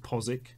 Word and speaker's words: Postwick: we've got a lot of those postwick is pronounced posik the best one is hayra which is haberg